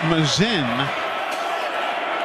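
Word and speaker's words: Masin: Frazier Mazen spells his last name m-a-s-o-f-s-i-n m-a-s-i-n pronounces it Mazin he did have a 65-yard punt against LSU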